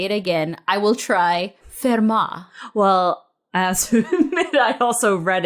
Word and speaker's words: Fermat: with math let's find out so let's shot fair ma I'm so excited also great accent thank you